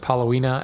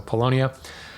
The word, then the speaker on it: Paulownia: A lightweight hardwood, something like Paulownia. Sorry, I always, for some reason, I've always pronounced it Paulownia, and I know that's not how I pronounced it, so Paulownia.